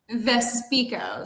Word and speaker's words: Vespico: Vespico. So we like to say my best skill is talking. So, we put speak in my last name.